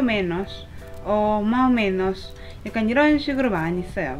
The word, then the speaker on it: más o menos: Más o menos. ¿Y tú? Más o menos. ¿Y tú? 그쵸? Más o menos. ¿Y tú? 혹은 지역에 따라서 S 발음이 좀 이렇게 먹는다고 하죠. 소리가 잘안 들리는 경우가 많아요.